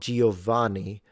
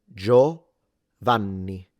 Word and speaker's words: Giovanni: Do remember that the N is double, so you need to pronounce it longer if you want to say it like an Italian.